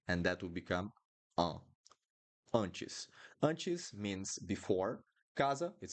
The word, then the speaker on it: antes: we do here because I have the N. So, antes, uh, antes. That's how we pronounce the A right here with the nasal sound because of the N.